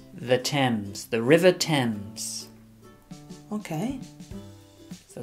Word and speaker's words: Thames: see the river the river tames not the tames it's pronounced the Thames the Thames the River Thames okay so dirty river and